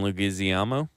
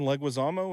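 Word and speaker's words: Leguizamo: on a plane with John Malovich and John Lugazamo. John Leguisamo.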